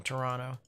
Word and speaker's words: Toronto: amazing here's your test pronounced toronto they don't emphasize the t in toronto is it pronounced dubuque